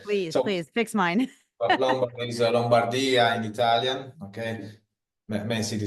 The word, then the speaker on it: Lombardia: Okay, I'll give you the Italian pronunciation for each. Okay. Please fix mine. Lombardy is Lombardia in Italian.